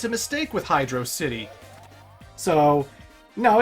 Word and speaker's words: Hydrocity: ever talked about this some people see it as hydro city because it's one word at the screen when you come up to it and so they pronounce it like hydro so these are like velocity but it's hydro ha ha good pun